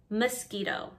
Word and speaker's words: mosquito: And lastly, mosquito. Mosquito, mosquito. make sure the second T is soft.